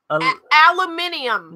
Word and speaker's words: aluminium: I can't pronounce it. Aluminium. No, it's not. Yes, it is. It's aluminium. It is not. In other countries, it is. It's aluminium, isn't it? It's aluminum. No, in America, but not when you pronounce it correctly.